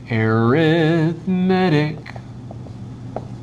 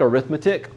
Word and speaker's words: arithmetic: an arithmetic sequence so arithmetic sequence all right let's just pause and talk about pronunciation here that looks like arithmetic arithmetic is a noun arithmetic is an adjective so the type of